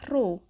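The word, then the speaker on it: ρ: Nah, yang bentuknya seperti huruf P ini, cara membacanya adalah rho.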